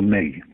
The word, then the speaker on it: Me: And the hard drives of these computers are something called a May. It's spelt M-E, but pronounced May, as in the month of May.